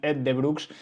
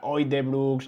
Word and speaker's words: Uijtdebroeks: que realmente no era O de Brooks ni with the de Broex, sino que digamos que la pronunciación empezaba por e, ¿no?